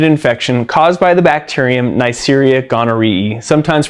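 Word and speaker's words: Neisseria gonorrhoeae: a sexually transmitted infection caused by the bacterium neria gari sometimes pronounced neria Gori now I mentioned most commonly sexually transmitted because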